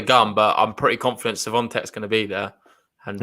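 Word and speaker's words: Świątek: We're getting a new pronunciation, Ben, from someone who's Polish this time. It's Swiatek. Swiatek.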